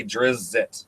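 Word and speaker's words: Drizzt: But Well, the problem is he phonetically spells it out in one of the early novels. He says, "What's a drizzit?" Yeah. And it's spelled like DRIZZIT.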